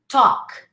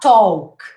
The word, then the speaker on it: talk: something like this okay forget the l you say talk not talk walk not walk all right and i